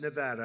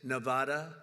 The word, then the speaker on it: Nevada: want to come to a state known as Nevada has anyone ever heard of it and don't ever mispronounce the name you're not allowed to do